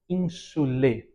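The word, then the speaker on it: insulae: Nós diremos ínsole, né? Nós acrescentaremos o e após o a.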